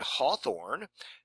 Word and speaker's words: Hawthorne: it always was pronounced Hawthorne it was always spelled without a w and it was pronounced like both or fa or or